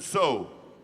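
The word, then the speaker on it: Tso: You're going to be singing off first, but So. So. And that's spelled T-S-O. That's a Navajo thing.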